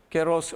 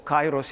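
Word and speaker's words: καιρός: Keros or Kairos in some sort of pronunciations like that.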